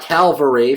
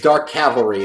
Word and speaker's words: Cavalry: And it's not Calvary, for those of you who can't read. We're not crucifying Jesus here. It's Dark Cavalry. If you have a hard time pronouncing it, think Henry Cavill.